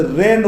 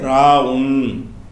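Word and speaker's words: راء: வச்சு அதுக்கப்புறம் வந்து இது இத வந்து ரேன்னு உங்களுக்கு சொல்லி தந்திருப்பாங்க. ரேன்னு ஒரு எழுத்து கிடையாது. இந்த எழுத்துக்கு பேர் என்னது ராவுன் ரா இந்த எழுத்துக்கு பேர் என்னது ராங்கிறது இந்த எழுத்துக்கு பெயர்.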